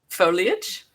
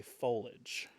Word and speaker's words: foliage: Foliage? Interesting. That's how I pronounce it, because that's the fun way. That's the correct way to pronounce it. I know some heathens that say foliage.